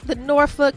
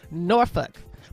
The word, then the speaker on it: Norfolk: Miasa Osbey, is in we call it the Norfolk Tidewater region of the state.